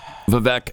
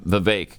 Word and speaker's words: Vivek: I have a hard time calling him Vivek because Glenn and Stu are the only ones on this planet that call him Vivek. Everybody else says Vivek because that's how it looks. That's how it's spelled.